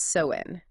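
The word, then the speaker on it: Samhain: care about it today well Sam Hayne pronounced soen it wasn't just a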